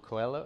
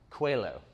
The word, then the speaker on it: Coelho: pronounce the author's name um it's it's paulo coelho does anybody know how how do you pronounce it cuello it's paul is what's written on the book but quillow and here's a great quote from him he